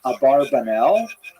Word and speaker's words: Abarbanel: do you pronounce it one of the most popular versions in America is abarbanel and when I told